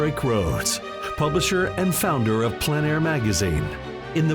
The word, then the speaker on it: plein air: This is the PleinAir Podcast with Rhoads, publisher and founder of PleinAir magazine. In the PleinAir Podcast, we cover the world of outdoor painting.